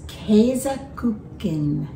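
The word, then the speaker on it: Käsekuchen: our beautiful cake and i double checked how to say this in german it's keizaken okay it just came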